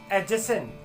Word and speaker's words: adjacent: Drop करना है और हम इस तरीके के प्रोनाउंसिएशंस का यूज करेंगे: एडजेक्टिव, एडजॉर्न, एडजेसेंट।